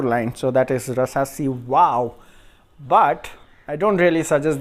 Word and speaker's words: Waaw: and it says waaw in english how to pronounce it so it is Wow from the sort of light and this is